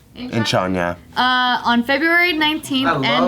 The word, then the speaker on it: Incheon: Incheon. Incheon, yeah.